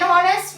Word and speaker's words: honest: h is silent. and r ஓட sound தான் இருக்கு. an honest man.